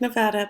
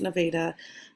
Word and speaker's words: Nevada: kansas and nevada iowa it looks like nevada but it's nevada they will get mad at you if you say it wrong and then here is